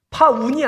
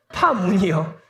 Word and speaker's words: 파문: 파운이 아니라요. 파문이요.